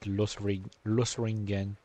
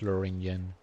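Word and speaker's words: Lothringen: Like, in my mind, I've always pronounced it Losringen or something similar. Never really noticed that it's pronounced Loringen, which will make it way easier for me to pronounce.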